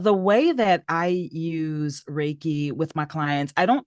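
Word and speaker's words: Reiki: so as a certified is it raiki is that how you say it yes that is how you say it raiki practitioner um how do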